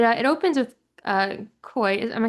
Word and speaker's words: Koi: So it uh it opens with uh Koi. Am I saying the name correctly? Koi.